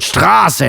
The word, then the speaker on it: Straße: And that's why the ligature S set was created, so foreigners like me can pronounce the word Straße knowing that the A is long.